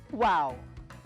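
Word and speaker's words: wau: uniquely designed malaysian kite its wings are similar to an arabic letter pronounced as wow wow i am so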